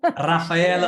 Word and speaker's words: Raffaella: Raffaella. Yeah, you pronounce my name complete. That's great. Thank you. Thank you. Thank you. I just I need to roll the R a little bit though, right? Raffaele.